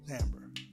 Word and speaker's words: timbre: A certain timbre. So look that word up, y'all. Timbre. Yeah. Timbre. That's how it's pronounced.